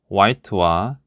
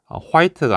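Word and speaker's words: white: 자,요 단어는 자, 우리가 흰색이라 알고 있는 와이트와 아웃이라는이 두 단어가 합쳐진 형태라고 이해를 하시면 됩니다. 자, 그런데이 단어를 읽을 때 발음을 좀 주의를 해야 됩니다. 어이 단어의 발음이 화이트가 아니고 와이트이거든요.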